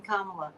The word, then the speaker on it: Kamala: find such difficulty pronouncing Kamala I mean what Comm CM you can think of it like Comm yeah well it's it's pronounced the same as Pamela only with a K I know but you